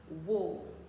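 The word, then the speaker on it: war: terme écrit quelque part W A r se prononce W encore une fois W pour reprendre une citation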